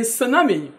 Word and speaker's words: tsunami: dad my dad exactly T is silent in tsunami beautiful is true that